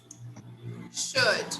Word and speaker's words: should: should, I'm not sure. should. Remember that this L here is not pronounced, so we say should, should, okay, good.